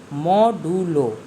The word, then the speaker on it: modulo: Now modulus operator is used to find the modulus, that is remainder, but pronounced as modulo.